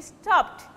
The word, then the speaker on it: stopped: For exact pronunciation, it will be stopped. You are adding ed, but it sounds like t, stopped, stopped.